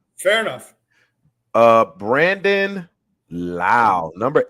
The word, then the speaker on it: Lowe: Brandon Lau, number 8. Is it Lowe? Brandon Lowe. No, Brandon Lau. He's Brandon Lau.